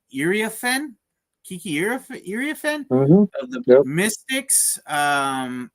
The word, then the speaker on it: Iriafen: Kiki Iriafen Mm-hmm.